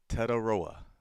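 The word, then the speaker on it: Tetairoa: I love this because now I have the pronunciation so I can get it right. Uh, Tedaroa, I got it.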